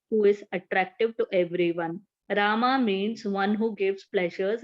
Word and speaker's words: Rama: hare krishna pronounced krishna and rama ranks with drama are sanskrit words hare